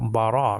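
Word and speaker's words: בָּרָא: So that's ra, and then the aleph is silent there. So bara means created.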